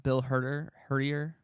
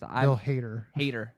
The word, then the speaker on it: Bill Hader: Yeah, Bill Hertier, whatever his name is. Bill Hader. Yeah. Well, it doesn't look like it's spelled.